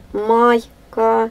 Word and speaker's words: майка: Майка. Ударение на первый слог.